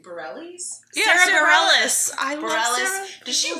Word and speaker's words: Bareilles: Yeah, Sarah Bareilles.